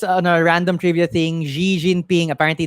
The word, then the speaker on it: Xi Jinping: a random trivia thing Xi Jinping apparently the XI is uh pronounced like C so it's C Jinping um so it's an